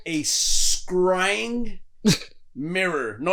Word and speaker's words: scrying: a chance to look up something called a scrying mirror no it's a real thing well and